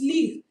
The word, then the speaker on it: lire: Nous allons lire. You can see that it's not lire, it's lire. The R is silent.